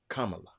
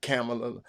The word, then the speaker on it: Kamala: to say it right Kama Kama like the Kama and La K La Kamala Kam not camela not Camila not it's Kam and L ladies and gentlemen let